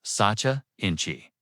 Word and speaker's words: sacha inchi: Satcha ini pronounced Satcha Inchi.